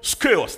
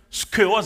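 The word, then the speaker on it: σκεῦος: Il utilisait le mot skeos. Attendez bien, skeos. Si vous voulez écrire, vous mettez S-K-E-U-O-S. Américain mais prononcer le skewers.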